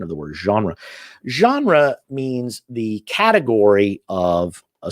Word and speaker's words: genre: english it might be genry but it's we take we took it from french and we retained sort of or pretty close to the french pronunciation of the word genre genre means the category of